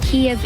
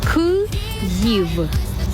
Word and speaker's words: Kyiv: Kiev is Russian spelling and pronunciation. Kyiv. That's how you say it in Ukrainian.